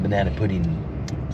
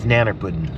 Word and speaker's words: nanner pudding: it's not banana pudding it's not banana pudding Nan pudding Nan pudding we're in the South it's nanner pudding I'm from California no but we we're in the South you got to say it right I try nanner pudding